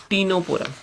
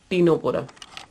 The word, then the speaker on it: Ctenophora: Now next phylum is टीनोपोरा, next phylum is टीनोपोरा। Here also C is silent in Ctenophora.